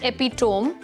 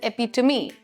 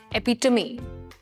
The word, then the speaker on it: epitome: So you cannot pronounce this word as epitome.